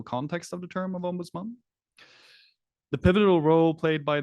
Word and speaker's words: ombudsman: um of an independent Ombudsman as a point of consideration for Malaysia so firstly let's start off with the pron pronunciation of Ombudsman it's it's not Ombudsman that uh it's actually ombuds M um and the word